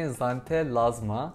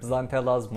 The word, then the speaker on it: Xanthelasma: İsmi Xanthelasma. Okunuşu birazcık zor. Ben de şu an doğru okudum mu emin değilim çünkü X ile yazılıyor.